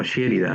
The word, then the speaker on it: Sherida: O Sherida, así se pronuncia.